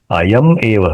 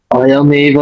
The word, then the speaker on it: अयमेव: अभी यहाँ पे अयमेव शब्द हम आराम से बोल सकते हैं, लेकिन यहाँ में क्या है, अयम एव है। उसका उच्चारण समझो, अयम एव करते हैं ना, तो कान में सुनने के लिए अच्छा नहीं लगता, ठीक है? इसलिए एक साथ उच्चारण करेंगे, अयमेव नित्यानित्य वस्तु विवेक।